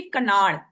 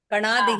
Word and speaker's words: कणाद: कनाड कनाड। ठीक है माता जी। आपको दिक्कत नहीं है। हो सकता है मैं भी गलत हूं। मेरा प्रोनाउंसशन अच्छा नहीं है। मेरा प्रोनाउंस इंग्लिश वाला है। कणाद ही है।